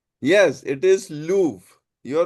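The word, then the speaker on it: Louvre: Yes, it is Lou. You're right. L O U V R E. The pronunciation is Lou. R is actually silent.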